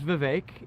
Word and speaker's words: Vivek: My name's Vivek, it rhymes with cake, and I'm on the campaign trail having some fun.